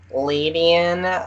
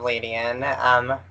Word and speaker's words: Ledian: Mm, Do you pronounce it Ladian, Ladian, gotcha.